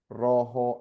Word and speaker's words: rojo: Sounds like a, imagine J is like a H in English.